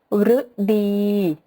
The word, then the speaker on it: ฤดู: สุด ท้าย นะ คะ ตัว รึ ที่ เรา ออก เสียง ว่า รึ นะ คะ เช่น คำ ว่า ฤทัย ฤดี ฤดู ก็ จะ สังเกต นะ